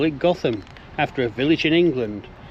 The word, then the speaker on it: Gotham: here who's going to give us the exact pronunciation of this village. Gotham. Gotham. But I bet it gets called all sorts of things, does it? Yes. Yeah, I can't think why, but Gotham. yeah. But Gotham is the official pronunciation.